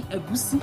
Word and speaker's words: Egusi: Egusi is fine because of non-Yorubas, but if you want to pronounce the soup the way it is, as a Yoruba person, you have to say go, si, Egusi, Egusi.